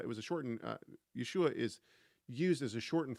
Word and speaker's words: Yeshua: that was uh it was a shortened uh Yeshua is used as a shortened form of Joshua within the within the Tanakh. And so we know exactly how to pronounce Yeshua. It's Yeshua, not Yahusha.